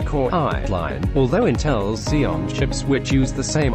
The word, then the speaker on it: Xeon: five gigahertz intel's high-end x86 based cpu chips pronounced xeon xeon chips are faster and more advanced than